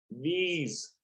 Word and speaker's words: these: These. Esse último E não se pronuncia porque, em inglês, anote. Consoante o E não é pronunciado.